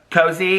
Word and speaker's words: Koze: that a radio station Co cozy would probably be pronounced k-o-z-e cozy right like so I think